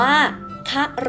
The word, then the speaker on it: ครุ: กัน ก่อน นะ คะ ทั้ง ซ้าย มือ ค่ะ อ่าน ว่า ครุ ถ้า คุณ ครู แพร วา พูด ถึง ครุ จะ หมาย ถึง ภาชนะ สาน ใช้ สำหรับ ตัก น้ำ อัน นี้ คน สมัย ก่อน จะ ใช้ กัน นะ คะ ถ้า ใคร เคย ดู เรื่อง แม่ การะเกด นะ คะ ก็ จะ เคย เห็น ภาชนะ ที่ เรียก ว่า ครุ ใน หนัง เรื่อง นี้ ด้วย นะ คะ ต่อ ไป ค่ะ ทาง ขวา มือ อ่าน ว่า คะ รุ ครั้ง นะ คะ ลูก